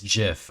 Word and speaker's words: GIF: It's literally just called it's pronounced GIF.